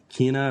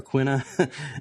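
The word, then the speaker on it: Quina: he also mentioned that he pronounced uh what I've been calling Kina or quna as quinoa like the you the grain yeah quino because uh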